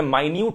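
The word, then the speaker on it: minute: है लेकिन इसी सेम शब्द को अगर मैं माइन्यूट करके पुकारूंगा तो इसका मतलब कोई छोटी चीज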